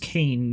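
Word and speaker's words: Kayin: Ah, Kyan. I believe it's pronounced Kane, though.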